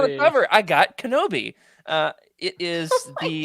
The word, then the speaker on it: Kenobi: Can you pronounce it? Let's see. Hold on. Let me give it a shot here. Kenobi.